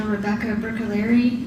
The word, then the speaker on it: Rebecca Bruccoleri: Bruccoleri, I'm sorry. Can you please state your name and spell it for the record? Sure, it's Dr. Rebecca Bruccoleri, REBECCA BRUCCOLERI.